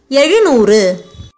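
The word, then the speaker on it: எழுநூறு: Ru, a short sound letter. This letter belongs to the group of special la letters. So I put capital S to represent it. While pronouncing it, you fold the tip of your tongue towards the back roof of your mouth. When joined with noor, it becomes elunoor.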